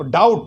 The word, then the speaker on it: doubt: एक छोटी सी भाषा को आपने पकड़ लिया जिसकी स्पेलिंग लिखी है आप डाउट, DOUBT, तो बी साइलेंट रहता है।